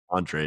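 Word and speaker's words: Andrej: I think it's Andre.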